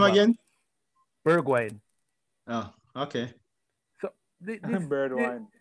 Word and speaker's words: Bergwijn: Pronounce his name again? Bergwijn.